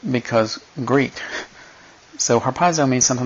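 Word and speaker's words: ἁρπάζω: Well, that word translated caught up is harpazo. And it's not spelled with a D, but it's pronounced with one because Greek. So harpazo means something like to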